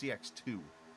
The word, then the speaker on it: CX2: team is pronounced correctly it's not CX squared put it like that I think it's CX2 is how it's pronounced and I'm sure Casey